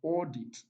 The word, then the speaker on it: audit: 43 43 option here we have audit audit okay prime minister is on the first level battle prime minister is